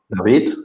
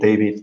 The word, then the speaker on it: David: david for the intro my name is david this is the spanish way to pronounce to say my name but you can also accommodate it david m um and i'm